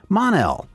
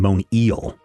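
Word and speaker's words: Mon-El: so we'll call you mon el somewhere there's a universe where his name is actually Thurs el I was really glad that they didn't call him mo Neil that would have been really bad Action Comics number 380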